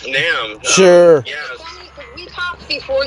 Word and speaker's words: NAMM: Is it NAMM or NAM? It's NAMM.